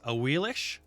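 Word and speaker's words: Ahuizotl: A Wheelish is actually how you say it, but I like a Wheelix because it just makes my brain happy.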